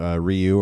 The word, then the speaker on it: Ryu: But things that have really, really impacted my life from a personal standpoint, getting to do Ryu or Ryu, tomato, tomato. Capcom told me it's Ryu, so I go with that pronunciation.